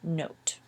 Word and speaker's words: note: say an OT but this one has an e at the end which is why you say o instead of O so this is pronounced not and this is pronounced note fast first the words